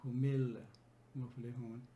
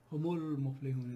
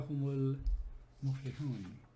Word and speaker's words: هُمُ الْمُفْلِحُونَ: It's better for the flow, and it makes more sense rather than saying humil muflihun. Humul muflihun is much more fluent and smooth way of pronouncing this.